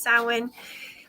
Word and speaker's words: Samhain: So Samhain, Samhain, which, like I said, it looks how it's spelled, should sound, but it doesn't. It's Samhain.